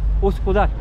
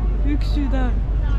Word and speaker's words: Üsküdar: Uskudar. ¿Viste que la U se pronuncia igual que en el estonio de Ux? Por eso no lo puedes pronunciar. Uksudar.